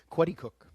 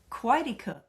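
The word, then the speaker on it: Coaticook: You had partnered with a well-known chef and had a small operation in, is it pronounced Quaticook? Quaticook. Quaticook.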